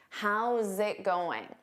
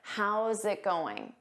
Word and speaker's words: how's it going: How's it going? You need to combine those sounds together. How's it going?